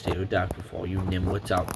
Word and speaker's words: pterodactyl: Yes, the P is silent, so it's not pterodactyl, it's pterodactyl for all you nimwits out there.